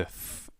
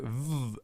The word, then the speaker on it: V: It can either be pronounced like the F as in Veilchen, Veilchen, or like a V as in Violine, Violine, violin. This makes V a little more difficult because it can be pronounced in 2 ways, either V or F.